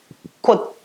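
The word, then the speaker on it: 꽃: outra vogal ou consoante, a pronúncia dele é T, tá? Na, aqui, kot, tá? Independente disso aqui ser um S, aqui ele vai ter som T, ele não vai ser nas.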